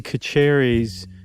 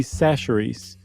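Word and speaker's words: Chachere's: guys remember not but I mispronounced Tony kacheri's seasoning Creole seasoning it turns out it's Tony sacheries and Doug let me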